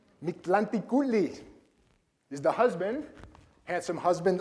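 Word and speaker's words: Mictlantecuhtli: I had to write it out phonetically. Mictlanticutli is the husband, handsome husband on the left.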